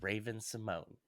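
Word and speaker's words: Raven-Symoné: There's an accent on the E of her name. I don't give a fuck, Steven, because when this woman speaks her own name, she says Raven Simone.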